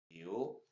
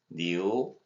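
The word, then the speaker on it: 牛: 그래서 중국어로 뉴 뉴 뉴라고 발음하면 되겠어요.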